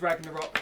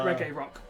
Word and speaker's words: Ragnarok: told you it was Ragnarok, That's cool. and he would have pronounced it Reggae Rock.